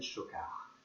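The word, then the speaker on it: Schockaerd: Voilà, et mon nom est Chocard. Chocard, ça s'écrit S-C-H-O-C-K-A-E-R-D.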